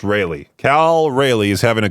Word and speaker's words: Raleigh: Is it Raleigh? I believe that's how you say it. It's just Raleigh.